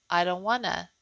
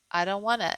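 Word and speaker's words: Eid al-Adha: It says, it sounds like I don't wanna. I don't wanna.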